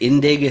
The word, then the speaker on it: Indig: my LinkedIn pal Elliott is it indeed how you pronounce that that's correct then just all right sweet